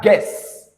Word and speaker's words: guess: Both U and E, they are pronounced as E together. You have friend, I guess. So you have guess transcribed as this.